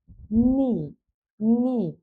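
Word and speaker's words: knee: হলে সেটা উচ্চারণ হয় না নি এখানে খে কিন্তু খের উচ্চারণটা কিন্তু হবে না খি এরকম হওয়ার কথা ছিল কিন্তু হবে না খে এর পরে যদি এন থাকে তাহলে খের উচ্চারণটা সাইলেন্ট থাকে নি মিন্স হাটু ঠো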